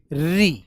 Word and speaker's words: ऋ: इसकी उच्चारण ध्वनि है क्या? यह रली इ के बीच की आवाज है ऋ।